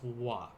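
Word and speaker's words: は: case it's gonna uh it's the symbol ha but we pronounce it as wah kind of like watashi the topic or the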